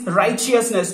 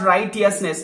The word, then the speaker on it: righteousness: be right so righteousness the pronunciation is righteousness not right yes Ness it's wrong pronunciation so righteousness comes when